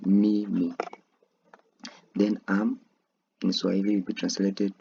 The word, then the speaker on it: mimi: So I I will be translated to mimi me me. That's how you pronounce I in swahili me me.